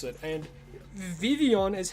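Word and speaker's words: Vivillon: And Vivion is how you're meant to pronounce it. The L's are silent. Believe it or not, it's Vivian.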